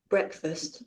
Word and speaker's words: breakfast: Breakfast.